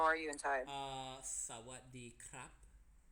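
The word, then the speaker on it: สวัสดีครับ: Sawadee krap. Sawadee ka. Yeah. Out. For guys we say krap. For girls, yeah, you say ka.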